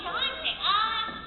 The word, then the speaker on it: Dante: Miss Rial, how did you pronounce that name? Dante? Oh, it's Dante.